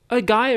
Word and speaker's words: Gaia: Is it Gaia or Gaia? Gaia in the English pronunciation.